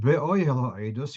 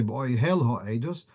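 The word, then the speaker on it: באהל העדות: Whereas in the word be'oihel ha'edus, you wouldn't say be'oihel ha'edus, it's be'oihel ha'edus. So the stress is on the penultimate syllable.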